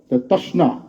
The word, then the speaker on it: তশ্না: সাথে এডজাস্ট করে না এর পরে আলিফ আছে তাসনা এটাকে এইভাবে উচ্চারণ করতে হয় আমি কথা বাড়াচ্ছি না আসলে